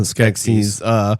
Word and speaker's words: Skeksis: And if you didn't need any more foreshadowing on the connection between the two mystics and the Skeksis, You said it right that time.